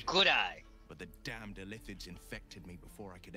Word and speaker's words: illithid: Illithid, that's how you say it, illithid.